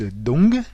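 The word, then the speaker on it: Đông: Et donc l'est, en vietnamien, se prononce Dong, en faisant bien entendre le G à la fin, Dong, et cela s'écrit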